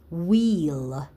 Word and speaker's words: wheel: Number 3, wheel. Wheel. What are the sounds in the word wheel? W, e, l, wheel.